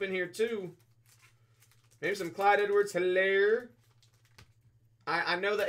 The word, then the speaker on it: Clyde Edwards-Hilaire: Maybe some Clyde Edwards-Hilaire. I know the H is silent.